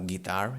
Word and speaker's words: guitar: Like we saw, for example, with the word guitar in English, no? Guitar, it's spelled with a G, U, and then an I. And we say gi, right? We don't say G.